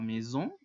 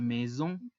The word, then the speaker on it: maison: Recordemos que la unión de las vocales A y se pronuncia E, y la S entre dos vocales se pronuncia como una Z, como un zumbido. Z. Y la ON se pronuncia como una O gangosa u O nasal. On. Ahora, la S al final, en el plural de casas, no se pronuncia.